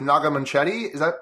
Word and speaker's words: Naga Munchetty: there was that story from BBC Breakfast with Naga Munchetty. Did I pronounce that correctly?